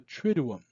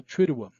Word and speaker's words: Triduum: You pronounce it like this. Tri sounds like trip without the P. Do sounds like do.